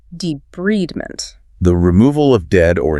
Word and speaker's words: debridement: And if the wound has dead tissue, it will require debridement, pronounced debridement.